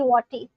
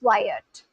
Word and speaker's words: Wyatt: I'm used to it because people from Eastern Europe call me Wati. Oh, okay. No, but I don't want to get the pronunciation of my, you know, OG subscribers wrong. So, yeah, now I know what your real pronunciation is, which is Wyatt.